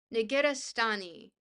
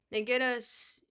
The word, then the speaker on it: Negarestani: No, we're not doing Donna Haraway, but we are doing there's a I can never pronounce it properly. Negarestani.